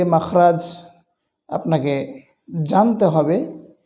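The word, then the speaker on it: حاء: হা, সবচাইতে যেটি নিয়ে আমরা বেশি বিপদে পড়ি, হা, এই হরফের উচ্চারণটা নিয়ে। এটি খুব বেশি কঠিন নয়, কণ্ঠনালীর মধ্যস্থান থেকে এটি হলক বলা হয়, কণ্ঠনালীর মধ্যস্থান থেকে এটি উচ্চারণ হয়।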